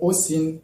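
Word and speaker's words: осень: Donc, dans le mot Osin, le I se prononce I, étant donné que le O est porteur de l'accent tonique.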